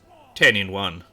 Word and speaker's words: Tehenhauin: But anyway, that aside, Tehenhauin was actually a bit of a meme then, because he wasn't generally pronounced Tehenhauin. It's 10 in 1 is how they wanted it pronounced originally, because he was a nice little meme for them, just like tic-tac-toe, you know.